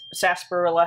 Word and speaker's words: sarsaparilla: just to start with sarsaparilla has apparently a whole bunch of silent letters but they have a